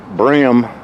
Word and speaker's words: bream: they got perch and what some people call brim I think it's spelled bream there's catfish in here